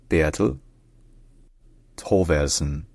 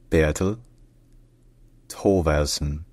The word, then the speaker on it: Bertel Thorvaldsen: with the Golden Fleece in Danish his name is pronounced beattle toon Beal toson Bel toson be toson